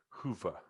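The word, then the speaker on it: Hyvä: number what's up why don't you say it hoofah oh okay yeah good yeah so i i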